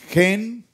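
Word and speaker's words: חן: Gen, ¿recuerdan? J-E-N, en hebreo gen, en hebreo se escribe num y het, 58, el valor de gracia es 58.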